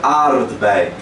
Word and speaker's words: aardbei: Que na verdade é aardbei. Aardbei. Deixa eu escrever aqui para vocês. Aardbei. Tá faltando um D aí. Porque às vezes na pronúncia tem gente que fala aardbei, mas o correto é aardbei.